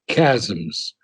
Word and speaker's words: chasms: to leap and bridge the cha uh the chassis no chasms the h is silent okay to leap and bridge the the chasms of ignorance and heal